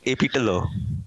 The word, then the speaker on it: AP Dhillon: See how you emphasize the last name. Say it. AP Tillo. Oh no, that's not how you say it normally. No, that's how I usually say AP Tillo. No. You emphasize it. You like AP, then you pause, then you emphasize What does the AP D.